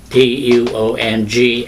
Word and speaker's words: Tường: My name is Tuong in Vietnamese. But here, people butcher my name. They cannot pronounce T-U-O-N-G as Tuong.